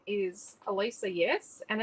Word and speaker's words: Alicia: court q um so and my name is alisa yes and it's spelled a l i c i a and